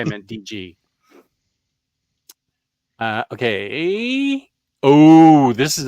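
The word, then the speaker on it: D.G. Chichester: talk to DJ DG himself if I said DJ I meant DG uh okay oh this is a biggie Fantastic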